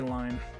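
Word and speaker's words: Lynne: I don't know, the E in Lynn makes me want to say line, but I need to keep returning to myself. It's technically it's Line, but like that's the original Japanese pronunciation. But I'm gonna go with Lynn and a small dog.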